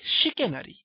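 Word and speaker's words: chicanery: এরপরে শিকেনারি, দেখো ইংরেজিতে চিকেনের মতো শুনতে একটা শব্দ, বানানটা চিকেনের মতো, সিএইচআই, উচ্চারণটা হয় শিকেনারি, সেটা হচ্ছে প্রতারণা করা।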